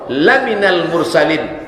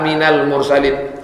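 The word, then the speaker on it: لَمِنَ الْمُرْسَلِينَ: Yasin hai Muhammad innaka sesungguhnya engkau laminal mursalin. Lam itu kalau pendek artinya sungguh. Laminal mursalin. Sungguh engkau seorang rasul. Tapi kalau macanya salah dibacanya panjang. Innaka minal mursalin.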